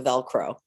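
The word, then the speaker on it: Velcrow: So but it's spelled crow, Crow. So Velcro.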